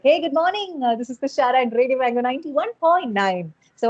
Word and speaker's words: Thushara: the radio is like they call me Tushara with double sha. So I stress on my sha a bit so that Like that's how like Tushara.